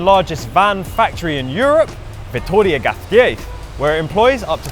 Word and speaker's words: Vitoria-Gasteiz: And this is the real pronunciation, Vitoria-Gasteiz. So we've actually just been told that even what I just said is wrong. It's actually Vitoria-Gasteiz.